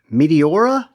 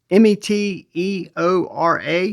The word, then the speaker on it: Meteora: Hey guys, today I wanted to talk to you about the Kizer Meteora. I think I'm pronouncing that right. It's Meteora. Meteora is how I think it's pronounced.